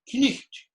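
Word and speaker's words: cniht: Knicht, Knicht. Notice, no silent letters.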